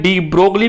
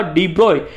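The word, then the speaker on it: de Broglie: डी ब्रोए को अपने क्या बोलते हैं, डी ब्रोगली भी कहते हैं, लेकिन इसका एक्चुअल में नेम क्या है, एक्चुअल में इसका प्रोनाउंसिएशन क्या होगा, डी ब्रोए।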